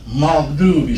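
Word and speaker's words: مغضوب: Not doobie. Do, it's a long O.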